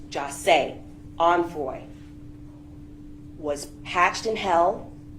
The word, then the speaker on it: Jase: The plans that were hatched by these co-defendants to rob and kill Jase, his name is pronounced Jase, Onfroy, was hatched in hell, and the witnesses are who they are.